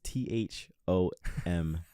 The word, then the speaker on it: Thom: So his name is spelled T-H-O-M. Yes, it is. And there's no, I mean, you could do the A-S at the end, but it's T-H-O-M. So we call him Thom.